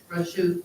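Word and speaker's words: Rajjoub: Rochou.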